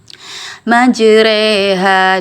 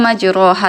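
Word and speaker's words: مجراها: imalah itu dia memiringkan Jadi huruf huruf Fatha yang dikasrahkan tapi kasrahnya bukan di I tapi di e majreha sini kan tulisannya majroha ya tapi dibaca majreha eh di al-qur'an itu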